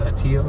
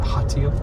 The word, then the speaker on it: Hatillo: don't pronounce the H's, so it's Atillo, not Hatillo.